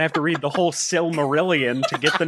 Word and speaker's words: Silmarillion: get the name out is that how it's pronounced that's how I I've always heard it pronounced what do you think it was I don't know because I like I think when I just scroll past it really quickly I just say similarin I thought it was